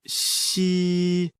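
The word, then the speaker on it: xi: dredge the kidneys Meridian the pronunciation of C like the English word she but with the tongue touching slightly the bottom teeth the pronunciation is assisted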